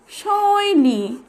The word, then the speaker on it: শৈলী: তাহলে শব্দটি উচ্চারণ হয়ে গেল পৈতা, প ঐকার পৈ, ত আকার তা, পৈতা। এরপরে শব্দটি হচ্ছে শৈলী, তালব্য ঐকার সই, ল দীর্ঘইকার লি, শৈলী, তালব্য ঐকার সই, ল দীর্ঘইকার লি।